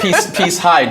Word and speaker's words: Peace Hyde: In fact, peace Hyde just rhyme with bright side.